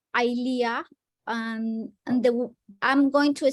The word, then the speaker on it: Eylea: And I have been I am being injected with a medicine called Eylea, and I'm going to spell it.